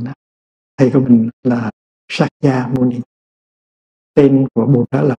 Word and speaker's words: Sakya Muni: Thì tên của Ngài, ngày xưa là mình đọc theo người Hoa, mình đọc là Thích Ca Mâu Ni. Bây giờ mình phải đọc lại cho đúng, Sakya Muni, Bụt Sakya Muni. Đó là tên đúng của Ngài.